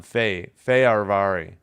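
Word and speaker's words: Fehérvári: Feyarvari. Wait, what? Feyarvari. How am I going to get through that? Sorry. Feyarvari. Feyarvari. Yeah, it's the emphasis is on Feyarvari.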